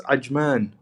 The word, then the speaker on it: Ajman: Sarajevo man it's it's Ajman The The J is pronounced as a j you can really go